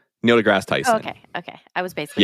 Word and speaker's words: Neil deGrasse Tyson: Neil deGrasse Tyson.